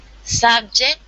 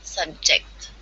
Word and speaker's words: subject: subject and subject yes the stress side level is different in the first sentence is subject and the second one subject awesome thank you very